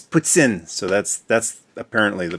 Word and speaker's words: poutine: puts in it so it's almost like the President of Russia puts in puts in it's like put in puts in you didn't like you mean poutine no it's puts in so that's that's apparently